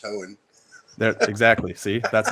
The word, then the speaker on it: Hoehn: Being that I'm so important in your life, you should know that my name is pronounced Hoehn.